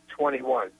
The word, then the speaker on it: 2NE1: My wife, she does dance music, and her favorite group is called 21, spelled like number 2NE1.